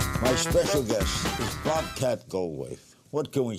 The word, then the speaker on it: Bobcat Goldthwait: My special guest is Bobcat Goldthwait. What can we say about him? Best known for his roles in 80s classics like Police Academy, Hot to Trot, and Scrooged. Actor, comedian, acclaimed director Bobcat Goldthwait.